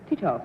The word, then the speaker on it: Tito: is Tito's first name how do you pronounce his last name titto that's correct what is his first